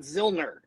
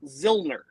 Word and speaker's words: Zillner: Mikey and Scott and by the way it's Scott zilner not yeah thank you I've heard him say his name wrong every day now for almost a week it's zillner but he's called out both